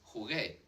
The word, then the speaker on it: jugué: When it's followed by an O, it's a hard sound, like in jugar, g-g-g, jugar, juego, jugué. Go, yeah, like gol, when someone scores a goal.